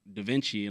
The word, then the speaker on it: Davenchy: But I was like, I don't want it to be spelled like, Leonardo da Vinci. I just spelled it like Givenchy at the end.